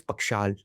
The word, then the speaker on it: Pakshal: is it, I pronounce it correctly? Sir, it is Pakshal.